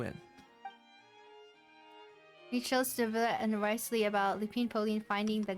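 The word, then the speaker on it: Wriothesley: Riotsley. I'll sign off on the interrogation request. Don't you worry. Wait, don't you pronounce his name as Risley and not Wriley?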